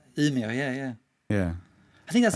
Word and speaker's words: Umeå: How do you pronounce it? Oh, right, yeah, Umeå, yeah.